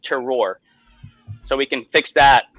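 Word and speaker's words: terroir: know that from somalia it is it is pronounced terror so we can fix that thank you david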